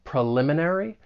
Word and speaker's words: preliminary: When you pronounce this word, the stress is on the second syllable. Preliminary.